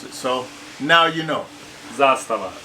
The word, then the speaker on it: Zastava: you guys to know the correct way to pronounce it. So now you know. Zastava. Zastava.